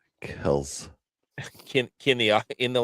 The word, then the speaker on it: Kelce: It's pronounced Kells. Kells.